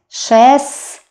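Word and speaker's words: шестнадцать: We don't pronounce t here. 16.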